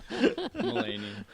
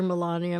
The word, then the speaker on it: Melania: Mulaney. Thank you very much. How could I forget? I'm sorry, Melania.